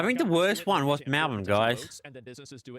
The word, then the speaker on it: Melbourne: So I call it Melbourne, and they call it Melbourne. They pronounce the B area a bit more than it needs to be done.